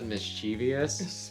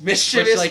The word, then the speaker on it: mischievous: say listen it's fine a lot of people pronounce this mischievous mischievous mischievous you look at it and it's very obviously like mischievous there is you know mischievous would be you know like m i s c h i v are you